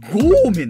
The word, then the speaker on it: 豪ーめん: ええ、こちらあの五一面と読むのではなくですね、五面です。五面、はい、一じゃなかった、ね、伸